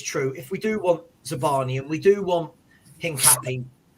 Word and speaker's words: Zabarnyi: I believe it's pronounced Zabarnyi.